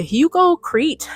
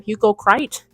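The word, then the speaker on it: Hugo Kreit: And another piece of jewelry that I want is the Hugo Crete. I want to say his name. Hugo Crite. K R E I T.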